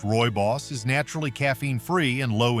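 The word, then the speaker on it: rooibos: Roy Boss, pronounced Roy Boss, is naturally caffeine-free and low in tannins.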